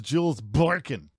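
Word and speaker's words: Jules Borkon: Can we say it's actually Jules Borkin? Borkin, okay. No. You just like put some stank on it. It's Jules Borkin.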